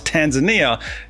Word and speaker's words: Tanzania: didn't mispronounce t and no I didn't just mispronounce Tanzania it's actually pronounced Tanzania now when I met